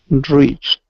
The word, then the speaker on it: reached: and this word here this is reached with the T sound at the end reached reached okay one more time